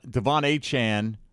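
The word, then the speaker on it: De'Von Achane: Devon Achane is how he wants it pronounced.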